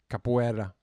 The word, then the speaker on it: Capoeira: The word capoeira has been butchered. Capoeira.